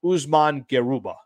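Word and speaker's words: Usman Garuba: real asset to the Los Angeles Lakers um Usman geruba um that's uh that's how you pronounce his name there so I looked at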